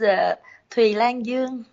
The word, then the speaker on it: Thuy Lan Duong: do you say your name my name is a tree Langdon okay - can I spell if you want